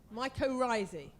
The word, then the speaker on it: mycorrhizae: Is it mycorrhizae or mycorrhizae? Mycorrhizae. Okay, well, the plural will be AE at the end. So mycorrhizae.